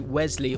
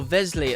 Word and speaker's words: Wesley: a transfer out and it's going to be wesley or vesly as i've said in previous videos because i read that that's how you're supposed to pronounce it so many names are